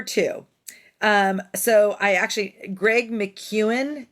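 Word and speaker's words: Greg McKeown: so tip number two um so I actually Greg McEwen it's weird how it's pronounced because I always thought it was Greg mcgeone but it's it's Greg McEwen and um he wrote the books essentialism and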